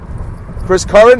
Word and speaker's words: Curran: And also, real quickly, Chris Curran, am I pronouncing that right?